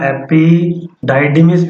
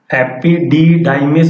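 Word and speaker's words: epididymis: हुआ होता है, और इसको एपिडिडाइमिस ही आप बोलिएगा, एपिडाइडिमिस भी बोलते हैं इसको, लेकिन एपिडिडाइमिस बोलने से आपको स्पेलिंग याद करने में, लिखने में कोई दिक्कत नहीं होगी।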